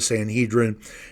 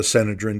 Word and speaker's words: Sanhedrin: Arrested he's brought before the Sanhedrin and as he or the senadin depending on how you like to pronounce that so he's brought before